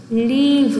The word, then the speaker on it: leave: Don't leave me. Leave. Don't leave. 자, live. 살다. 떠나요. Leave.